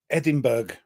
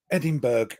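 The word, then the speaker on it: Edinburgh: This guy was playing it and it was Edinburg. Edinburg. Oh, no. He did not say Edinburg.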